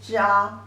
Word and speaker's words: 炸: Together, pronunciation is 炸, 炸. Second tone means deep fry.